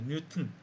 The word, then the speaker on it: 뉴턴: 근데 실제 발음은요. 우리가 발음을 중시할 때는 그냥 이거를 돌튼, 뉴튼 그렇게 해야 돼요.